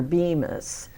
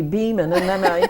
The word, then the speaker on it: Beaman: last name is pronounced he keeps referring to you as Bemis Oh times I've I've corrected him you know no it's actually Beeman it's probably not worth